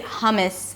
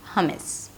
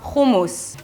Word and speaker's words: hummus: as in "food" - 'huw', and the second syllable is m's-m's. 'huw-m's', 'huw-m's'. But you can also say 'hummus' and everyone will understand you. 'hummus' Or you can just go for 'humus (with an Israeli accent).